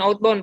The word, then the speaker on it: outbound: Kegiatan keempat pembelajaran outbound, Pak. Oke, pembelajaran outbound. Sekarang coba bilang daun. Iya, Pak. Coba bilang daun. Daun. Ganti D-nya jadi B. Baun. Outbound. Begitu pengucapan Outbound.